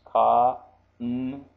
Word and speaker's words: kanji: Okay, so now I have this, and the pronunciation is ka-n-ji, kanji, kanji.